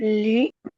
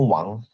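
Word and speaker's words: 王: Kayak li. Salah. Itu bacanya wang.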